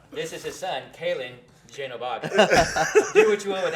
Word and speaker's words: Genobaga: So in order to get it right, I had to spell it JENOH-BAGA, and now it says Calen Genobaga.